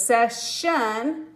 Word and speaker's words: session: This consonant made it say the shun sound.